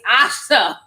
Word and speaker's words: Asia: It's Asha. As in amazing to see y'all, you know. Thank you so much. I know I always say Asia because it's spelled Asia. It's Asha.